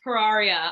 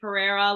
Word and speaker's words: Pararia: I didn't really hear you say it, but it's Pararia. I think you said it right. Pararia. Yeah. Yeah. It's a Yeah. lot of vowels mushed together. People tend to also call me Pereira, like the Portuguese surname, but sure, it's fine.